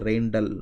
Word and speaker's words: Rijndael: so-called Ryan dollar algorithm so it's something the pronunciation look something like the rhein t da his children doll or some even consider is something like the Rain doll trend or something like that so so roughly this